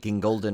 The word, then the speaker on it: Gingold: Of course, he's hosted his whole film series entitled Gingolden Oldies, and he likes to pronounce his now with a British accent when he introduces himself to new people.